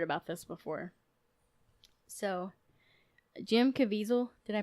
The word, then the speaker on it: Caviezel: I'd never heard about this before so Jim Caviezel did I pronounce that correctly yes yes the actor he